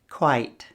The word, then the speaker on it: quite: Listen to them and see if you can hear the pronunciation difference. Quit, quite, quiet.